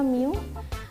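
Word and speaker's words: μ: pangkat negatif 18 nah simbolnya disini sudah ada ini m kecil milik micro itu new ya Ini bacanya Miu Nano itu n kecil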